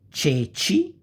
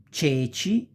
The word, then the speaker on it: ceci: So, cesta, ceci, cerbiatto, cesoie, cento, ce. You pronounce like chest.